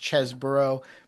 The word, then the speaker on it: Chesebro: Anna, it has been a long time since we have discussed the big cheese, Kenneth Chesebro himself, and I know his name is pronounced Chesebro, but I refuse to acknowledge that reality.